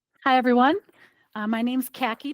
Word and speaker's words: Khaki: Uh, my name's Khaki, pronounced like the color, last name is, and I'm in the Twin Cities.